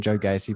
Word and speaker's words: Gacy: That's how you say his name, Joe Gacy promo.